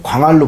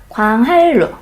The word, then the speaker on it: 광한루: 니은하고 리을이 만났을 때 니은이 리을로 발음난다.